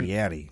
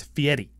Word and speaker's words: Fieri: But in Italian, it's a flipped R. Fieri. It's Fieri. It almost sounds like a D.